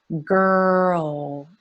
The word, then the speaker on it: girl: Pressure, girl, girl. So I feel my tongue up for the R, grrr, and then it moves down for the dark L.